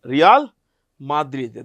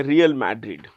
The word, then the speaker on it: Real Madrid: Real Madrid. That's the Spanish way of pronouncing it. You can say Real Madrid.